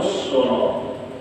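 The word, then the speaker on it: العسرى: Fasanuyassiruhu lil usra. Hati-hati kita selalu bacanya, mirip nih bunyi ayatnya nih. Nah, pemulaan fasanuyassiruhu lil yusra, yusra mudah. Yang kedua fasanuyassiruhu lil usra, usra.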